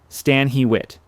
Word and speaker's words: Stanhitt: Stanhitt, pronounced Stan Hewit, a name that visitors would need to learn, a name that would not be forgotten once learned.